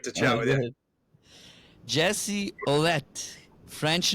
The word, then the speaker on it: Ouellette: on man great to chat with you Jesse olette French name right yep how how do we pronounce it uh wette yep wette okay and Jesse is the American